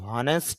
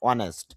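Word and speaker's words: honest: শি ওয়াজ ওয়ানেস্ট, যদিও অনেকে এইসের উচ্চারণ করে হনেস্ট বলে, হনেস্ট শুদ্ধ না, অনেস্ট। আর ওয়ানেস্ট থেকে এটা আরো শুদ্ধ হলো ওয়ানিস্ট, এটা রস্বইকারের মতো বলতে পারেন।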